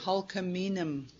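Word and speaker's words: Hul'q'umi'num': And I'll tell you how to say hulkaminum.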